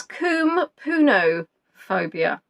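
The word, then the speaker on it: koumpounophobia: What is kum puno phobia? Now that's spelled as k o u m p o u n o.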